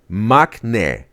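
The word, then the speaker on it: maknae: Or not like the knee, right? Not like the knee on your leg, but it's ne. Magne. Like Mac, right? The Big Daddy Mac. And ne.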